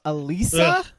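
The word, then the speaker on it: Alysa: Alisa is how you actually pronounce her name.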